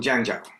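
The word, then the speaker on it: Zhengzhou: script at all and how the Chinese words are written don't phonetically make a lot of sense. So I was going to place Jangja which spelt out is Zenzoui. So I was kind of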